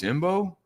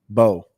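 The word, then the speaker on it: Mbow: Marcus Imbo? Bowe. Oh, well, but it's spelled Imbo, right? Yeah, silent. Just like Savon Ravel is a silent H.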